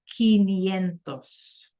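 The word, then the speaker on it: quinientos: Like in 15, those quintuplets and we pronounce it quentosentos.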